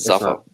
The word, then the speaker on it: Zafar: I can't believe they actually pronounce it Zafar. Is it really? Not even Zufar. It's Zafar.